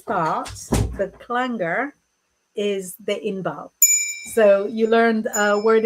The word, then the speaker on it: Inbaal: You wouldn't ordinarily spell it with the double A. In English, I only do it to help people pronounce it a little bit better.